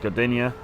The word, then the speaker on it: Gdynia: You've got Gdansk, and then you've got Sopot, and you've got I think it's pronounced Gdynia as well.